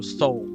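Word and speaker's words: Sol: Uh, and just for mention, soul is spelled s a um s a s o l. It's spelled spelled s o l. So, soul.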